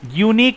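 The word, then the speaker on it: unique: ইউনিক এখানে ওয়াই মতো উচ্চারণ হচ্ছে, this is এ ইউনিক thing, ওয়াইটা যেহেতু কনসোনেন্ট তাই এখানে এ বসানো হবে।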